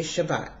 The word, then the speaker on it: Shabbat: well in today's Hebrew we use the saric pronunciation and we say Shabbat well when writing that word we would spell